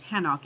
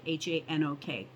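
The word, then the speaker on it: חנוך: And after he brought forth Methuselah, Hanok, so Hanok is what we know, who we know as Enoch. The Hebrew pronunciation is Hanok, Hanok.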